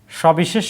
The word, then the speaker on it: সবিশেষ: এই সবিশেষ শব্দের মধ্যে আমরা যদি দেখি যে এটার উচ্চারণ কি রকম হচ্ছে, সবিশেষ, তিনটাই স হয়ে যাচ্ছে। তো এই সবিশেষ এখানে হর্ষ থেমে যাচ্ছি, কোনো উচ্চারণে কোনো পার্থক্য নাই।